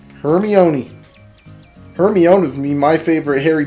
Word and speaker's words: Hermione: It's actually pronounced Hermione. Hermione.